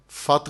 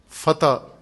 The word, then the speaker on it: فتح: یہ اردو کا اپنا ایک انداز ہے کہ عربی تلفظ کو اردو والے اپنے انداز سے تلفظ کرتے ہیں. فق کو فقہ، سط کو سطح، فت کو فتح.